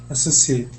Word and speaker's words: associated: So, it's associated, not the sh. Okay. Associated.